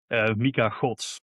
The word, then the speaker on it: Mika Godts: So just one more time, Kevin, how should we be pronouncing his name? Mika Godts.